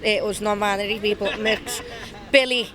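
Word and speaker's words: Mx: I'm capital M small X or as we pronounce it was nonbinary people mix Billy B I L I A Gibson and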